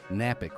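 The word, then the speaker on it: Knapik: That is Napick with a K. The first K is silent. The second one, you can say it.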